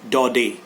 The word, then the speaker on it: Daudet: the spelling is da you Det but it's pronounced da da because it's a French name and the lesson